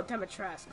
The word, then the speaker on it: Dimitrescu: Oh, Demetresque, that's how it's pronounced.